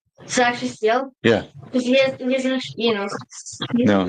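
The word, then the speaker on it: Steele: go steel how you pronounce it how you pronounce Peter Steel's last name actually steel yeah you know no it's just it's just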